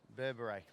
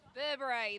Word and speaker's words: Berbere: and I've got the official pronunciation Grant give it to us Burberry Burberry there we go there's